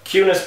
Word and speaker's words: ciùnas: Cunis boher colleen bonion.